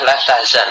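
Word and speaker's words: لا تحزن: misalnya, maka bahasanya bukan la tahzan tetapi la tahzanu. Dia tidak engkau tidak bersedih. Tapi di sini maksudnya adalah larangan, janganlah kamu bersedih. Maka la-nya adalah nahiyah dan dia beramal menjazmkan fi'il mudhari. Sehingga dibacanya yang benar la tahzan.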